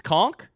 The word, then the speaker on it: conch: It's conchk. I've been saying it wrong my entire life.